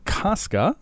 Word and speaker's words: Koska: Today we've got Kaska. Or I didn't ask you how to pronounce your last name. Koska. Kasa. How do you say that? No, you nailed that the first time.